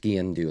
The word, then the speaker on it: Sgian Dubh: Pronounced Sgian Dubh, like skiing into something, skiing.